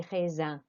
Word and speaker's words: raisins: Now, grapes looks like raisins, but it's not pronounced like that. Écoutez et répétez des raisins. Des raisins. So I-N makes an an sound.